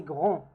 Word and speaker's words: grand: Il est grand, grand. Now the D, in case if it's masculine, we don't pronounce it.